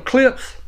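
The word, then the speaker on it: Klipsch: And then I have my really good sounding clips. It's spelled K-L-I-P-S-C-H.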